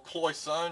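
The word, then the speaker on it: cloisonné: Lovely big Cloisonne vase, or Cloisonne as I like to pronounce it.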